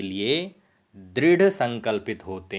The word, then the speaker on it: संकल्पः: तो ये जो गांव है इसका अनुस्वार की तरह उच्चारण किया जाता है, अर्थात यदि हम हिंदी में लिखेंगे तो इसे ऐसा लिखा जाएगा संकल्पः। तो इसको इस प्रकार से उच्चारण करें, संकल्पः सिद्धिदायकः।